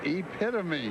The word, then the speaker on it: Epitome: People are always telling me that they never pronounce this horse's name right. Let's get it straight now cuz people are going to want to know. It is epitome.